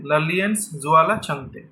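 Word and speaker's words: Lalianzuala Chhangte: ठीक है, ललियनजुआला छंगते was named the AIFF mains footballer of the year.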